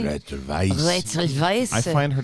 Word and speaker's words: Weisz: Rachel Weisz.